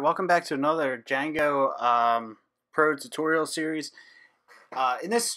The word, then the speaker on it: Django: I thought it was Django and then someone mentioned to me it's Django with a silent D so that's how you pronounce it and it was named